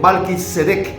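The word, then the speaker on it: מלכי־צדק: partes en primer lugar el nombre Melquisedec proviene del idioma hebreo y se pronuncia realmente malis sedec y está compuesto por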